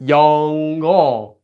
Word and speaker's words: 영어: So we get 영어. We get kind of a 영어, right? Notice how the ng kind of flows over. 영어. It's not 영어, it's 영어.